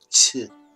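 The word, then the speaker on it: Qi: Jing Shen and jigna so Chi spelled with AK you put your tongue against your teeth and say ch the CH sound - Chi Chi you don't say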